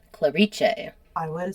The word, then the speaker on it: Clarice: on my pronunciation because it's just spelled Clarice, but word on the street is it's pronounced in Italian. Clariche. I would have said Clarice.